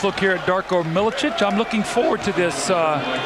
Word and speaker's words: Milicic: here tonight in some spot minutes the news pronounced Miletich they go inside rich Sharif just but we've